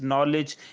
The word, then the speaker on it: knowledge: So if especially the letters such as silent letters and different spellings were actually came from French language, such as knowledge, K is silent, and so many other examples that we can take of the silent letters.